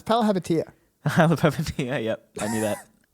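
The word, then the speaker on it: Palihapitiya: All right, well, you pronounce his last name. No, it's Palahapitiya.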